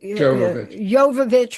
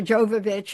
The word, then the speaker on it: Jovovich: say Millie you know actually Yovich or Jovovich it depends on whether you pronounce the J goes open source guns